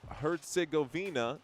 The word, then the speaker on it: Herzegovina: It's pronounced Herzegovina, not Herzegovina.